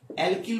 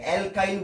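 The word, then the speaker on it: alkyl: অ্যালকিল মূলক, KYL। ঠিক আছে, অ্যালকিল মূলক। আবার উচ্চারণ ভেদে এটাকে অ্যালকাইল মূলক অনেকে বলে থাকে।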